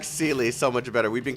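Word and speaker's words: Seele: Zele, God, they got me saying Zele now. It's Sealy, but they pronounce it Zele in the English voiceover.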